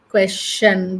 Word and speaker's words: question: before the t o n it will be question CH little bit CH like suggestion suggestion suggestion suggestion huh suggestion question suggestion question we are we are used to saying suggestion question but the actual pronunciation is a little bit of CH not